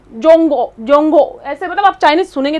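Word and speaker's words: 中国: लेकिन जो Chinese language है उसमें जो नाम है वो है जोंगो।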